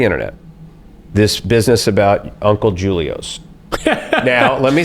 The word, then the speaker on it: Julio: But for some reason, when you saw Julio, he said Julio, and we say, well, listen, it's pronounced Julio.